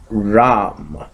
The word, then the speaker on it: Ram: to this chakra is Ram. So it is the alphabet RAM, Just write down REM and pronounce it accordingly, and you'll get the right pronunciation.